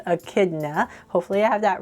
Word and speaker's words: echidna: you know that he is a uh it's pronounced Echidna but it's actually spelled e n c h i d n a but that is I would say in chidna right but it's actually pronounced Echidna hopefully I have that right I Googled it